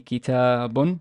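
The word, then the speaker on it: كتابٌ: So kitab it would be kitabun, two dhamma.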